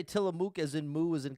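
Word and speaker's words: Tillamook: If you've never tried it, Tamuk is the correct pronunciation.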